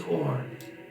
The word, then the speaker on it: Orn: My name is Orn. Orin or Orn. As in ornery. Like earn, but with an O. Orin. Rhymes with corn.